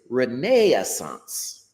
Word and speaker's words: renaissance: But the British pronunciation of the same word is reneaance.